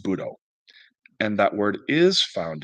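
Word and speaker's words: 武道: When the characters for Wu Dao are given their Japanese onyomi reading, the word is pronounced Budo, and that word is found extensively in Japanese history.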